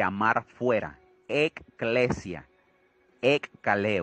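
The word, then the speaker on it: ἐκκλησία: la palabra iglesia de la lengua primitiva se pronuncia ekklesia y está conformada por tres palabras antiguas que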